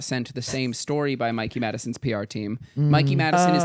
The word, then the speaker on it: Mikey Madison: Madson. It was like Mikey spelled like my name. Oh, yeah. Mikey Madison.